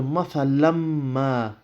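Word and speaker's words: مثلا ما: Okay, the lan there, mathalan, you won't pronounce the un sound there. You will not pronounce the tanween. It will go straight onto the meme in ma. Okay, so you'll go mathalam ma. Now there is slight ghunna there. Mathalam ma. Okay, that's the rule of idgham there.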